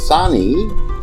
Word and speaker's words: Sain: Inspired by this and seeing the scope of artificial insemination in dogs in India, Rati approached the famous Dr. Sain, pronounced as Sani, the professor who had then established the gynecological department of the Bombay Veterinary College and was its first head.